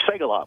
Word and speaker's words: Segaloff: It's Segaloff with an S-A-Y, only it's spelled differently.